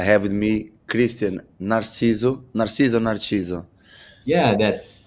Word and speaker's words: Narciso: Narciso. Yeah, that's how you want to pronounce it.